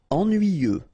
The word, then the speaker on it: ennuyeux: Ennuyeux. Okay, final X not pronounced. And then ennuyeux.